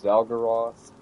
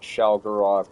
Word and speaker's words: Xal'Goroth: It could also be pronounced as Zgaroth, but I'm calling it Shalaroth because, you know, it just sounds correct.